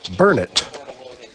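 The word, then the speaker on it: Burnet: It is pronounced burn it.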